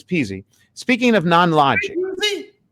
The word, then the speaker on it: Pizzi: of speaking of non-logic how do you pronounce your name it's peasy speaking of non-logic it's